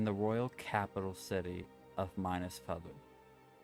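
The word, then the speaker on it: Minas: the continent in the Royal capital city of minus Pub minus m-i-n-a-s nflu f-e-l-e after the recent passing of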